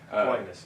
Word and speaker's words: Aquinas: She was a volleyball player, I believe at, pardon my pronunciation of this, Aquinas College. Aquinas, yeah.